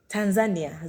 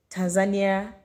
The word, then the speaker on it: Tanzania: Now, we pronounce it as Tanzania. Tanzania. I'm going to Tanzania. We are in Tanzania. But those people pronounce their country as Tanzania, like Tanzania. Oh my God. The pronunciation is so different.